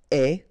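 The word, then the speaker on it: aie: And avoir will become est. Remember, the final E is not pronounced, so you only have this A-I sound.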